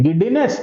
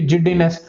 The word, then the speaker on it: giddiness: Once again I repeat, it may be giddiness or it may be jiddiness. Majority of the people pronounce this one as jiddiness ಅಂತಂದು.